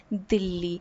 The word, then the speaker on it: Dilli: through the novel is referred to by its mugal or by its 17th century 16th century pronunciation where he it was always called Dilly and the Dilly here